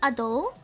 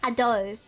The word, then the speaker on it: Adele: The way she said her name was Adele. So I'm like kind of, it's like saying Adele. Yeah, that's the way to say it. But I'm Australian, so I constantly accidentally say Adele instead. But no, she pronounced her name as Adele.